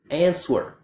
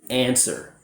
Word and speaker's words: answer: A native speaker does not pronounce the W sound. A lot of students will say answer, but a native speaker just says answer, dad.